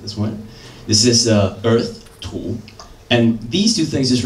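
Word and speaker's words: 土: This is earth, tu.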